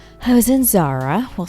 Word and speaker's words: Zara: i was in uh zada zada that's how you say it right spanish i was in zara we'll say like that